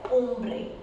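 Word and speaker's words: hombre: For example, if I pronounce this word as umbre, then here the H sound is silent. So it will be pronounced as ombre, ombre.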